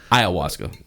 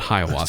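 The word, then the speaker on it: ayahuasca: Yeah, Iawasa, not Hayawaska.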